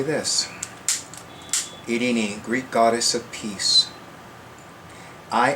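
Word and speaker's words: Eirene: But I know the pronunciation of her name is Irene.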